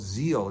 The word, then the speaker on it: Zeale: There's another one out called Zeal. It's spelled Zeale.